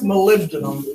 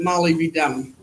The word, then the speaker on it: molybdenum: mo it's what else molybdenum but a lot of people pronounce it Molly be dumb all right all right